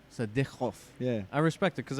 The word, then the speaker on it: Sadykhov: What's the actual pronunciation? Sadykhov. Sadykhov.